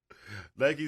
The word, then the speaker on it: Nike: fate to Black Nike konik Dro Nike it's pronounced Gordon niky Zoom Kobe 2 fade the black light bone